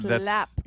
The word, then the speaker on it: Schlapp: My poor mother can't pronounce the SH sound. SCH. So that's not. Slap.